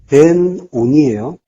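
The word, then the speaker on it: בֶּן־אוֹנִי: 그래서 이가 붙으면은 니은 발음이 이제 이 발음하고 붙어서 니가 된 거죠.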